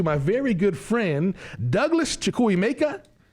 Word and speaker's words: Chukwuemeka: Without further ado, I want to introduce you to my very good friend, Douglas Chukwuemeka. Chukwuemeka, I said it right. Chukwuemeka.